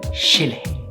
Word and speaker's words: Chile: They don't pronounce it cha like we do in the rest of the world. They pronounce it like an English SH. So they say Chile, chico.